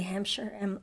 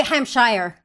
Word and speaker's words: Hampshire: go like hi Emily Hampshire Emily Hampshire like you don't think of pronouncing your own people get H wrong yeah they Hamshire oh I don't care